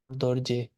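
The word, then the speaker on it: རྡོ་རྗེ: The ra is never the ra is actually never pronounced, except on very I mean, there's one big exception which is for dorje.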